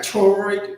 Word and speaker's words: choroid: Choroid, CHOROID.